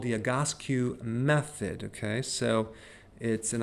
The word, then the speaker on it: Egoscue: And it's called the Egoscue method, okay? So and I wrote down the pronunciation because it's a little hard to pronounce, Egoscue, okay?